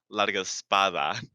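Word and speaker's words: Largospada: you said but like my last name is largo spada oh okay you're like like a spa dude i like that picasso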